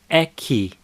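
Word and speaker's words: aqui: care care is more Spanish standard Brazilian Portuguese pronunciation key so repeat after me a key right now let's go through each of these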